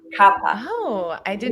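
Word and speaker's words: kapha: that the second one papa mm-hmm you lost you pronounced but i want i want to let everyone know it's actually kappa kappa oh i did not know that pronounce the h and the other thing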